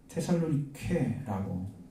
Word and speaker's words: 데살로니가: 데살로니가 전서니까 당연히 데살로니가는 테살로니케라고 읽습니다만 이게 지명입니다.